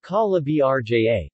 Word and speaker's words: Calabria: calabria italian pronunciation calla brja calabria in calabrian calabria in calabrian greek calabria